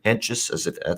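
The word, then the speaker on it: Hentges: uh we got the cleveland indians and the minnesota wins next up sam henk is the lefty for cleveland henches that's how you say it kenta miata uh minnesota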